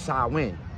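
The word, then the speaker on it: Samhain: a i n but it's not it's not pronounced how it's spelled is pronounced sawin and they named a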